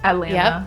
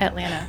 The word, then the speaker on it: Atlanta: Atlanta. Yep, Atlanta. See, the way it's spelled is how all Atlanta people say it. We don't say Atlanta, it's Atlanta. Oh, that's Right.